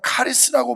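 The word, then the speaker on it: χάρις: 축하는 거 이게 감사해요 헬라어로는 감사를 카리스라고 발음하는데 그 뜻은 하나님의 은혜와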